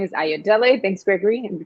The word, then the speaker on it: Ayodele: y'all nice to be here my name is ayodele thanks gregory and we pronounce that beautifully yes i'm an artist based